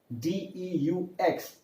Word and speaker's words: deux: Two is called as deux, D-E-U-X. X is not pronounced, so deux.